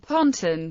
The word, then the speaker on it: pontoon: US combat engineers commonly pronounced the word pontton rather than pontoon and US military manuals spelled it using a single o.